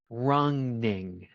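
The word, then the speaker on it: Rønning: I have been told it's actually pronounced wronging.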